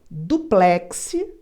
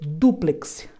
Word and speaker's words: duplex: um tsunami aquele Tsunami essa palavra você pode dizer duplex ou você pode dizer duplex as duas formas estão corretas duplex é uma palavra oxítona a última sílaba é mais forte duplex quando você fala